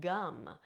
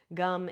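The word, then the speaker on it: gam: Um, now another seed sound worth mentioning here is the seed sound gum. Gum is spelled G A M but we pronounce it gum like the gum you chew and this is the seed sound of Ganesha.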